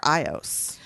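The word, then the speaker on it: Aios: I call her Ios. I know it's like A-I-O-S. A-I-O-S. Yeah, but the pronunciation. Ios. Yeah, it's like Okay, I have a A-I-O-S. problem because I always read these books and then I like to listen to audiobooks that I've already read, Yeah. right? And Ios is how they say it in the audiobook.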